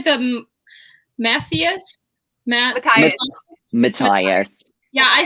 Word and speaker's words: Matthias: Matthias.